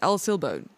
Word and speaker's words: El Silbón: So, I did go and actually try and get the pronunciation and listen to it. It's El Silbone.